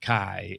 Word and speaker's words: Chi: Got actually not because the X is pronounced Kai and the first letter in whatever that word is is Christos.